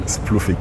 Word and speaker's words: Splufic: Splufic, right? Am I pronouncing it correctly? Yeah, Splufic.